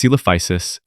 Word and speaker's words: Coelophysis: Coelophysis bauri, pronounced Coelophysis, its name means hollow form, referring to its light, hollow bones, a feature shared with modern birds.